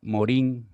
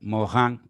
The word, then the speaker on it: Morin: los últimos años francés edgar morin o edgar mohan como se pronunciaría tal vez en francés nos dice en estas